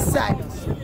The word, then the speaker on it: Psynos: Alright, guys, so she's asking me what is sinus. So, let me introduce. My name is Sinus, that's spelled with a PSYNOS, that is.